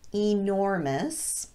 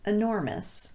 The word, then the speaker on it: enormous: for you for example some native speakers pronounce this word as enormous and some say enormous using the schwa vowel instead of the long e either one is